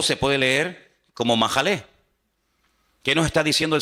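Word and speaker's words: מחלה: ahí, mejilá y majalé, en hebreo se escriben sin vocales. Se escribiría una M, una J y una L, porque no hay vocales en hebreo. Es decir, que la misma palabra se puede leer como mejilá o se puede leer como majalé.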